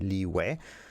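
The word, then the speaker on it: Liyue: that you can do i still call it liu even if most of the people call it or would pronounce it leeway just because leeway sounds kind of strange liu sounds more all cute um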